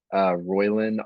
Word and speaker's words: Roiland: Roiland, Roiland.